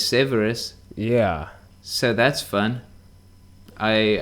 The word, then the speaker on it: Severus: time for some reason i always remembered it as serious but it's severus yeah so that's fun